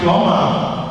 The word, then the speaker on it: plumber: plumber ìgbẹ́ no plumber no be silent the correct pronunciation is plumber when you lè ṣe